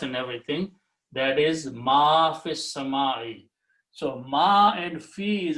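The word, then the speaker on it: في السماء: Then you read together, you do not pronounce the alif, so it will be fis-sama'i.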